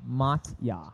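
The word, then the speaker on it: Motya: To make the pronouncing pronunciation easier for you, call me mot. M O T Y A. Matya Mata from now on.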